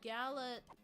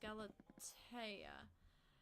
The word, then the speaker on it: Galatea: guess hypixel but yeah the pronouncing for it is really weird but it's G A L A T E A. Yeah, that's what it is. Galata. Galatea.